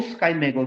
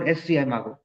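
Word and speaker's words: SCImago: Next matric is that is maggo or skygo. We can also pronounce somebody pronounces as a skygo or seago.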